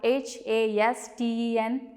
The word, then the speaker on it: hasten: They all have a silent T.